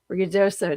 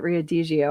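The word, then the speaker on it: Ruidoso: Uh, oh yeah, it's even hot in Rioso. Did I say it right? Because I kept calling it Riodio.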